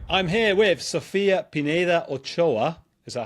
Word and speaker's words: Sofia Pineda Ochoa: Right, I'm here with Sofia Pineda Ochoa.